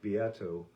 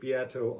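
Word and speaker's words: Beato: i followed was uh taken from a rick biato video and if you aren't following rick biato on the tube of views and you're into music you're making a grave mistake friend grave mistake rick biato it's spelled beto like b-e-a-t-o he does a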